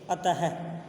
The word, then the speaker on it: अतः: इसका उच्चारण है की तरह किया जाता है, जैसे अतः, प्रातः, स्वतः आदि। क्या कहा? विसर्ग का जो उच्चारण है वो है की तरह किया जाता है।